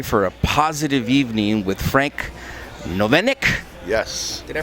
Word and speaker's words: Frank Novinec: a perfect day for a positive evening with frank novenic yes did i pronounce that right you did very good florida